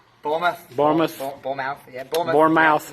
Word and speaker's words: Bournemouth: Bournemouth, did I say it right? Bournemouth.